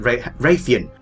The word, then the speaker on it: Rathian: I can't even pronounce it. Rathian. Don't know why I was going for that Z sound.